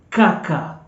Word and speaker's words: kaka: sound different but mostly K is going to be pronounced as Ka in the Swahili language and the example is Kaka kaka kaka kaka k-a-k-a kaka kaka